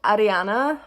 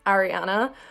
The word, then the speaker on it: Ariana: So the next name is Ariana, which is spelled exactly like Ariana, but in Maori you roll your R's, and Ariana is a very popular name over here.